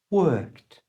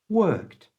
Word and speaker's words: worked: which is work in the past becomes work worked you try worked and in a sentence he worked hard again